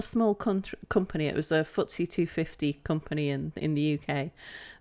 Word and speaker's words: FTSE: And pronounced FTSE. FTSE.